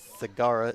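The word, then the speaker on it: Segarra: base and this is zagara is that how you pronounce it yeah it's at Chloe Sagara s-e-g-a-r-r-a that's the way I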